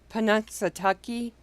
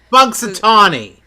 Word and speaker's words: Punxsutawney: Let's see if I can pronounce this one right. Okay. Panunsatucky. Panunsatucky. You know, like groundhog. That. Oh. Yeah. The place where Punxsutawney.